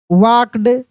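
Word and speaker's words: walked: यहां L silent है। क्या है? एल साइलेंट है। एल का नियम बताए थे कि एल के बाद अगर के हो, एम हो, एफ हो और डी हो। एल के तुरंत बाद अगर ये चारों में से कोई भी लेटर दिख जाए तो वहां पे एल साइलेंट रहता है।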